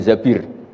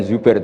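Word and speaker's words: الزبير: Kemudian saya nikah sama Abdurrahman bin Zabir. Di hadis ini bukan bacanya bukan Zubair tapi Zabir.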